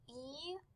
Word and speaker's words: eyes: In the word eyes, it is spelled E-Y-E-S. The E-Y make the long I sound that says I, and the E-S makes the Z sound. So when you put it together, you get eyes.